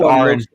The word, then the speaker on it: Aaron Ra: It's pronounced Aaron.